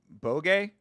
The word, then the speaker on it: Boge: It's pronounced bogey.